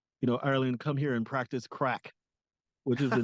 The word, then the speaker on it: craic: And it's called, they mention it in, Ireland, come here and practice crack, which is the name of the convention.